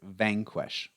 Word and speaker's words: vanquish: completely defeated Vanquish Vanquish put the stress on the first part Vanquish this is you know